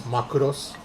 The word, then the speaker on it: Macross: into um Mecca and I'm actually more into Macross so Macross or for those that like the correct pronunciation is makuros um so uh yeah I like that that's